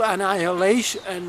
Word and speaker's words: annihilation: The time is ripe now, and there will not be any wholesale annihilation. I was mispronouncing this word. Annihilation.